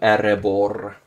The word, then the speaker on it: Erebor: Really important to roll your R's. Your R's with Erebor. Makes it sound a lot cooler.